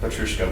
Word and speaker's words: Petrouchka: And it also helps avoid the stereotype of like a Petrouchka pianist, like Petrouchka, which rhymes with Katyushka, which is a Russian missile.